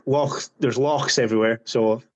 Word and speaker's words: loch: Like lochs, there's lochs everywhere, so it's like a lake, but pronounce it loch, you know.